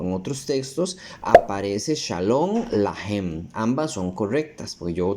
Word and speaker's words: Shalom Lahem: Como dato curioso, aquí dice Shalom Lahem, no Alejem, como yo lo estaba pronunciando.